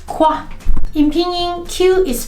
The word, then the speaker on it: qī: In pinyin, Q is pronounced like the English chi sound, but with the tone position closer to the teeth and the lips more spread.